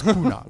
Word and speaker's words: Kunal: You pronounce it wrong. It's Kunal. It's Kunal.